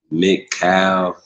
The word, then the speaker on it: McCall: that by the way my name's pronounced mccall mccall okay mccall mccall c got you all right like c is k mccall k c yeah man definitely y'all